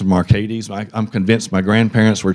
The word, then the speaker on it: Marcades: My name is not pronounced Marcades. I grew up with it being pronounced Marcades.